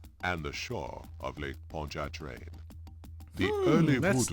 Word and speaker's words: Pontchartrain: zombie zombie you know this sounded like poncho train the way that he pronounced it you can tell